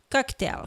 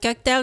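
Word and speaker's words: Coqtail: On boit un cocktail fait avec les sirops infusés de la marque Cocktail. Cocktail qui s'écrit C-O-Q-T-A-I-L.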